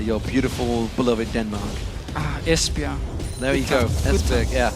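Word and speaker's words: Esbjerg: town in uh your beautiful beloved Denmark ah espia there you go es yeah it was actually one is that how you pronounced it I I said esber I do es esia there we go today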